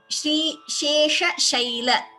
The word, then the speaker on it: श्रीशेषशैल: Shri Shesha Shaila, note the pronunciation. Shri Shesha Shaila. This Shri She Shai, they all have the same Sha. Here Sha is different.